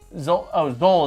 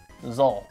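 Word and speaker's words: Xol: Zol is how you pronounce it. Okay. Zol, like roll with a Z, Zol.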